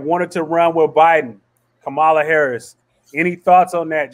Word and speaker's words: Kamala: Hey, let me just say I'm glad you got her name right though, man, because they've been mispronouncing my shorty's junk, calling her Kamala for every day, though.